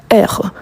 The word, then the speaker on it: heure: Vous voyez que les mots heure commencent par un H muet.